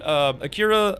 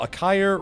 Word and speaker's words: Akire: Akira, Akire? Oh, Akire rhymes with a fire.